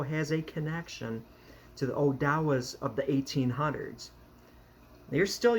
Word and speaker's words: Odawa: Odawa, you might know it is Ottawa. It's a different pronunciation, Odawa.